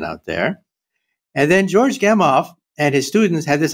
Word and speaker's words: Gamow: a name, and I don't know how to pronounce this last name. Is it George Gamow, G-A-M-O-W? Gamow, right.